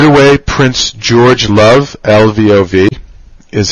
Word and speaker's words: Lvov: Right away, Prince George Love, L-V-O-V, is how it's spelled, became prime minister, and Alexander Kerensky, who is pictured here on the left, became Minister of Justice.